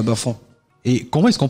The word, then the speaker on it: Bafang: La région de l'Ouest, plus précisément à Bafang. Et comment est-ce qu'on prononce Bafang avec l'intonation à la française ?